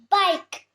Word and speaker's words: bike: Bike. Here E is the Silent letter.